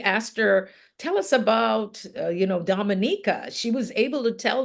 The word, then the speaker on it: Dominica: because when somebody asked her, tell us about, Dominica, she was able to tell them about her country. Well, first of all, she corrected them on how it's pronounced, Dominica. Dominica it is.